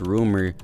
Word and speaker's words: RMR: to the artist rumor RMR pronounced rumor was born March 5th